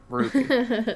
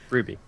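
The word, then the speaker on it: RWBY: you pronounce w r w y b y Ruby yep Ruby I've been trying to pronounce seal and like I've just been reading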